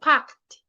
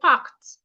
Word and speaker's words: parked: I didn't say packed. I said packed. The ed here sounds as t.